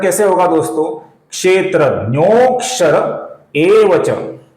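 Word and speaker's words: क्षेत्रज्ञोऽक्षर एव च: तो इसका उच्चारण कैसे होगा दोस्तों, क्षेत्रज्ञोक्षर एवच। अवग्रह का उच्चारण हम कुछ लंबाई के साथ करते हैं, क्षेत्रज्ञोक्षर एवच, इस प्रकार इसका उच्चारण होगा दोस्तों।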